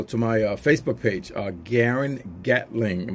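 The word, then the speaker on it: Gearen: my facebook page our Garen gatling my name is not spelled like it sounds it's actually GE ar e n and then my last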